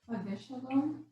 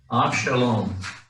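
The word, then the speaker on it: אבשלום: Except that's going to be a silent Sheva underneath the Aved. So how would we say it then? Because you almost had it, except that you pronounced the Sheva and it shouldn't be pronounced.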